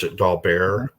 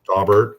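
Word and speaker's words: Daubert: officially adopted um dobert d b t some pronounce doar but dobert um they say it's um um well we don't officially adopt the holding of dobert um it's guidance for judges to look at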